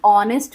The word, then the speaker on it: honest: अब ऑनेस्ट की स्पेलिंग क्या होती है? HONEST। फिर आप बोलेंगे कि ये तो HONEST स्टार्ट है, यानी कि H से स्टार्ट है, तो फिर क्यों हम इसको ऑनेस्ट बोलें?